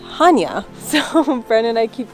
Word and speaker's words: Chania: place that's spelled just like this, but it's pronounced Hanya.